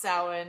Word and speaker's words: Samhain: Like, this way, anybody looking to Google it, it's spelled like Samhain. Yeah, Samhain. Samhain. It's pronounced Samhain. It's a Celtic celebration of the dead.